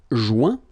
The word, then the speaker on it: joint: Joindre, joint. Rejoindre, rejoint. Okay? Same thing. Final T not pronounced. Joint. So when you get this O-I-N combination of letters, you get the sound ouin.